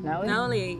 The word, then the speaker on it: Nolly: So this is if I was, so I just end up on, now, how do you pronounce it? Nolly? Nolly, yes.